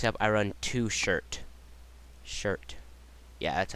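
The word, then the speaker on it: Shurit: out uh next up I run two shirt shirt yeah that's how you say his name uh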